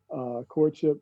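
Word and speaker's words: Quartship: That Instagram is Courtship Show, and Courtship is spelled with a Q-U-A-R, like from the quarantine. So it's like Q-U-A-R-T-S-H-I-P, Courtship.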